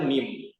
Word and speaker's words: MEM: kami dari mim publishing mim tulisannya m e m akan tetapi dibacanya mim di logonya juga teman-teman